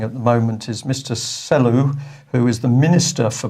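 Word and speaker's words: Selous: may care to get in contact with Mr salus it's got an s on the end but I'm told it's pronounced cellu s-e-l-o-u-s and ask him does he still have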